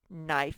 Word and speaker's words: knife: beginning or ending sound knife and knit they both begin with an m sound and then sound is spelled with k n all right so on